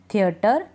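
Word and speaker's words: theatre: टर पढ़ देते हैं जैसे इन स्पेलिंग्स में है सेंटर थिएटर कैलिबर ठीक है टी आरई को हम टर पढ़ रहे हैं टी आरई को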